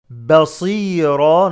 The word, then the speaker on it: بصيرا: Ra, show the alif. Basira, not ba. Ba, basira. Ba, basira, not ba. Ba is light, and then sad is heavy.